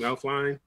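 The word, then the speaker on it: Elflein: I think Elfline, is that how you pronounce his last name? Elfline?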